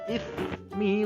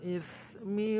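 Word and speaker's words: إثم: Enggak boleh ya, karena ismi di bawahnya itu pendek, berarti dibacanya seperti ini. Wala ta'awanu 'alal ismi wal 'udwani.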